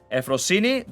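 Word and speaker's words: Euphrosyne: But yeah, it is Euphrosine. The one you guys pronounce as Euphoria, it's Euphoria.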